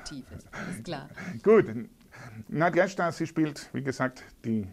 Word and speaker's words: Nadeshda: Nadjeschda Brennicke, habe ich es richtig ausgesprochen? Nadjeschda, ja, freut mich.